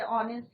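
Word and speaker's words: honest: कई जगह हमने देखा कि साइलेंट रहता है, जैसे ऑनेस्ट है या क्या है आर है। तो यहाँ पे एच साइलेंट है तो वहां पे हम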